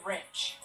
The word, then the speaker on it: wrench: Lysandra, which letter is silent in the word wrench? W. Correct.